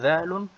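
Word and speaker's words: ذال: Le dhalun se prononce comme le thaun, mais avec un son Z.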